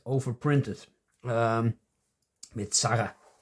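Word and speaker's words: Sarre: over printed um with Sara S r e. That's a French way of pronouncing it.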